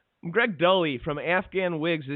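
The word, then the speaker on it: Dulli: I was like, Greg Dully from Afghan Wigs. How do you pronounce his last name? He goes, "No, it's Greg Dooley.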